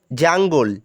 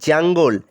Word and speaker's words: jungle: জঙ্গল, জাঙ্গল, JUNGLE, জাঙ্গল। একটা কথা বলে দিই, বাংলায় যেটা আমরা জঙ্গল বলি, ইংলিশে সেটা উচ্চারণ হয় জাঙ্গল, JUNGLE, জাঙ্গল।